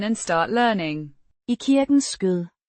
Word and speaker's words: skød: Skød. Means lap or bosom, pronounced Skøth.